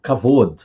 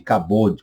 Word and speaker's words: kavod: Deus, kavod de Deus, kavod é a pronúncia, há quem pronuncia kavod. Fique à vontade, kabod, kavod, kavod.